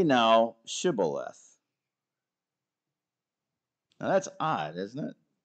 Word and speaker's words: Shibboleth: Say the word Shibboleth. Well, what does the Bible say? "And he said, Sibboleth." For he could not frame to pronounce it right.